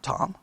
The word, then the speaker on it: Thom: now i guess you would say tom thom tom all right um t-h-o-m all right uh however you want to pronounce his name all right uh maybe his